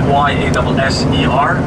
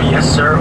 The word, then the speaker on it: Yasser: So the way you spell it, Y-A-S-S-E-R, just call me Yasser or Yes Sir, or the way you like.